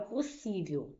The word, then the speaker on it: possível: Vamos ver aqui a palavra possível. Vou separar em sílabas. Os S rr não ficam juntos, tá? Você vai separar. Então eu tenho por sí. Qual é a sílaba tônica? É o si.